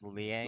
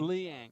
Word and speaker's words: Leang: your last name it's leang leang okay it's like Lee like Bruce Lee and then like Ang like Avatar perfect leang so we got Jerry